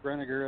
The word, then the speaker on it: Brinegar: you can call me and he actually pronounced my last name right Brinegar that's great but Wow was raised in the